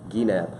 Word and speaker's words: Gienapp: people he's interested your last name for everybody Gap yeah Gap the number of times I have to spell it every day is a little outrageous I